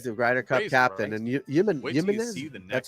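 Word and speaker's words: Jiménez: He's the Ryder Cup captain, and Jimenez.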